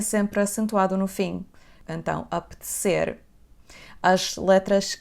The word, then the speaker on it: apetecer: A primeira letra, a letra A, vai ter aquele som semi-fechado. A. Não é A, ok? Então, apetecer.